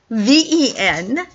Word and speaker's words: prevenient: It's a word, and it's like it's spelled Prevenient. I don't really care if you know how to spell it actually, but it's said prevenient, and that word means